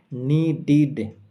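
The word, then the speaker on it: needed: নিডিড। এখানে ড সাউন্ড রয়েছে। ড সাউন্ডেরর পরে ইডি রয়েছে। আর তাই যেহেতু ড সাউন্ডের পরে ইডি রয়েছে তাই এর উচ্চারণ হবে নিডিড।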